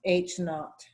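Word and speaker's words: H₀: for that is this it's H with a little zero and it's pronounced H naught those of you who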